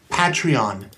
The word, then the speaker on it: Patreon: Patreon. Patreon. It's like patron, but with an E in there.